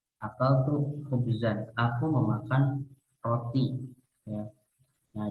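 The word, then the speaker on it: خبزًا: Khubzun itu roti, berarti di sini harusnya dibaca nasob, berarti khubzan ya, khubzan. Akal tuh khubzan, aku memakan roti ya.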